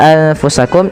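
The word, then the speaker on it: أنفسكم: Nah, pada lafal anfusakum ini sama membacanya ketika ia ikhfa dengan dengan ketika ada nun sukun bertemu dengan ta, maka samarkan nunnya kepada huruf fa.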